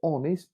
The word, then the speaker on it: honest: they are as follows the first letter of the word honest for example is a consonant H but it's unpronounced honest not her honest in spite of its spelling the word honest begins with a vowel